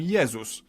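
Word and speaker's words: Jezus: favorite religious figure Jesus in Polish we call him yeus but if we were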